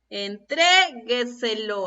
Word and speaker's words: entrégueselo: Entrégueselo. A ver, escuchemos. Entrégueselo. ¿Dónde está la palabra con acento? ¿Dónde se encuentra presente la sílaba tónica? ¿Dónde se encuentra presente el acento? En la sílaba tre.